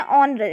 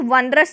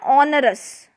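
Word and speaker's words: onerous: इसको क्या बोलते हैं, ऑनरस। इसको वनरस नहीं बोलना है, इसको बोलना है ऑनरस।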